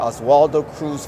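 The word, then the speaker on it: Oswaldo Cruz: Beatriz Grinsztejn, who is the director of the Oswald Cruz Foundation. So I'm going to have you help me out. Did I pronounce that correctly, or why don't you give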